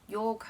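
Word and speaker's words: Jorg: a main character called yorg i think you pronounce his name i always struggle with this one j-o-r-g um who is a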